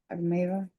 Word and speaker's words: Almeida: Almeida or Almeida. How do you pronounce that? Almeida.